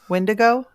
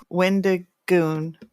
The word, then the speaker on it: Wendigoon: Well, and so if somebody who knows how do you say his name? Wendigo? Wendigoon.